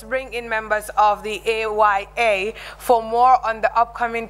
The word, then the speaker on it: AYA: I call it, pronounce it as AYA.